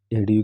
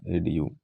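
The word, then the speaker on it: adieu: एडीयू का मतलब होता है फेयरवेल, यानी अलविदा, विदाई करना, एडीयू। एडीयू, डी आई ई, ए डी यू, डी यू का प्रोनाउंसिएशन देखो, ड्यू आ रहा है ना, ड्यू, माउंटेन ड्यू एक कोल्ड ड्रिंक होता है।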